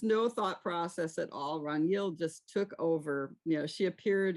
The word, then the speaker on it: Ragnhild: Is that how you pronounce it? Ragnhild? Ragnhild, which was not easy to learn how to say.